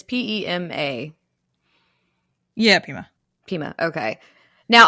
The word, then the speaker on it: Pema: Like, once I see it, I'll be like, yep, that's how that's pronounced. Mm-hmm. It's Pema.